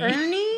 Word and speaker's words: IRNE: How do you say this? I was just gonna say the IR Ernie. Ernie.